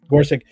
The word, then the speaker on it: Gorsuch: Um but Neil Supreme Court Justice uh Neil Gorsuch or whatever, I can't pronounce his last name. Gorsuch. Gorsuch.